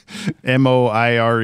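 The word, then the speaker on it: moiré: makes a very cool oh apparently it's just moir according to google but anyway yeah it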